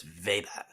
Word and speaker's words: Weber: not it looks like weber guys just so people know what charlotte's talking about it looks like max weber but it's veda jesus benjamin franklin invented